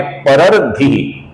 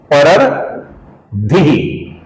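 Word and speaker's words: परर्द्धिः: परर्धिः, परर्धिः अर्थात परर मतलब ओ र के बाद अपूर्ण र, फिर अपूर्ण द और फिर धी।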